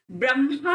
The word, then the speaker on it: ब्रह्मा: वह व्यक्ति निरप्रद है ब्रह्मा नहीं होता ब्रह्मा होता है हां पहले मां बाद में ठीक है ब्रह्म लोग ये भी शब्द बहुत गलत उच्चारण करते हैं लोग ब्रह्मा ब्रह्मा विष्णु महेश बोलते रहते